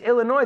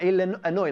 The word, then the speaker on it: Illinois: It's Illinois, the S, we don't pronounce the S. Ah, Illinois, like annoy.